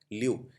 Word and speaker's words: lieu: देखिए लुटेनेंट में एक चीज़ याद रखनी है, ये LIEU है, ल्यू।